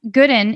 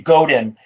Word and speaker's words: Godin: I'll pronounce his last name Godin. Thank you. But I don't think it's a right or wrong, right?